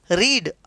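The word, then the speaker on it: read: रीड, अब रीड का मतलब होता है पढ़ना। अब रीड की थर्ड फॉर्म होती है रेड, स्पेलिंग सेम रहेगी लेकिन उच्चारण इसका आप लेंगे रेड।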